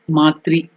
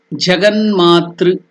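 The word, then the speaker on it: जगन्मातृ: So it is Jaganmatra.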